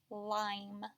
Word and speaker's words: lime: check how you did the first sound in lime is spelled with an L the next sound is I the long I sound the last sound is mm this follows our pattern long I followed by a consonant so I know in order to make that long vowel sound followed by a consonant